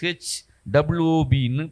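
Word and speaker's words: שוב: Hebrew வேர்ஷனில் என்ன, அதில் SHUB அதை எப்படி ப்ரொனவுன்ஸ் பண்ணணும்னா SHWOBன்னு ப்ரொனவுன்ஸ் பண்ணணும். ஷூ அப்படின்னு பேசணும்.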